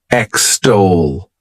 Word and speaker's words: extol: is extol to extol this word has two syllables and the stress is on that second syllable extol what it means is